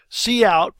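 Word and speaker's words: cout: our hello world program C out pronounced C out that stands for character output stream the hello the yarn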